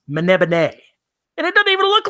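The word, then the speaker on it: Melniboné: you look at that written out it looks like it says Elric of melmer Bane as where he's from but the author claimed to someone that it's pronounced mana been a and it doesn't even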